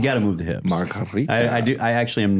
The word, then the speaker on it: margarita: you can roll the R like margarita, Margarita. if you really wanted to.